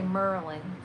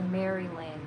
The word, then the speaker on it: Maryland: I pronounce it how it's supposed to be pronounced. Usually I say Merlin, so because that's my accent. Because since I'm from Maryland, but I try to say Maryland because that's how you're supposed to pronounce it.